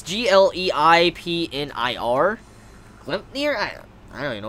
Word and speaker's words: Gleipnir: I don't even know how to pronounce that series. I've never even heard of that. Gleipnir. It's Gleipnir.